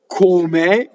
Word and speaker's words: come: Come is a dissyllable, two-syllable word. It causes a phrasal doubling. I think there are 6 two-syllable words. Come, sopra, dove, contra, and I always forget the other 2. When they come up, I know what they are, right? But come makes a double L.